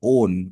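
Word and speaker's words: -one: the suffix o o it's not one it's pronounced as own okay for Ketone the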